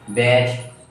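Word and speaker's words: batch: ठीक है, ऐसे होता है, बैच होता है, बी ए टी सी एच, बैच। तो यहाँ टी क्या है, साइलेंट है।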